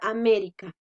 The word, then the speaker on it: América: palabra erika la palabra américa pueden darse cuenta allí última penúltima y antepenúltima si la estatizada porque esta es la sílaba tónica sí nosotros al decir américa sabemos que la mayor fuerza la hacemos en un mes entonces